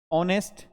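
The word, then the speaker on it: honest: एन आर क्या बोलेंगे बेटा एन आर एच साइलेंट हुआ एन ऑनेस्ट बॉय एन ऑरेरी house a house horse a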